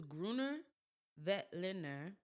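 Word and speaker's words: Grüner Veltliner: with different meals different foods so get this gruner vet ler it is spelled gr Ru n e r v e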